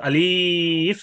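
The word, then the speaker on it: ألف: হ্যাঁ, অর্থাৎ আলিফ বলে টান দেওয়া যাবে না।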